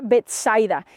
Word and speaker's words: Betsaida: En realidad se pronuncia Betsaida y significa casa de pescadores. Bet significa casa y Zaida significa pescador.